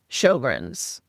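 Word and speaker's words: Sjögren's: So what what is Shoggrren's? Yeah, it's a strange word, isn't it? It uh it's got an S and then a J after the S, which sounds very strange when you pronounce it Shoggrrens.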